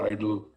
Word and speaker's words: EIDL: you have received a it is spelled economic injury disaster loan eidl it is abbreviated as a eidl but it is pronounced as idle idol loan if you receive